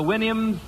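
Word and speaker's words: Houyhnhnms: Remember the Winnims? Supposed to pronounce it like you do a horse's whinny, I think.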